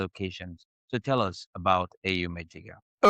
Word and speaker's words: Eyum Ejiga: So, I'm here with me I have here with me Ayom Adegah. Did I pronounce that right?